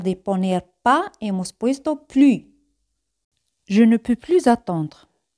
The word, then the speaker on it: plus: Siempre ese al final no se pronuncia. Plus.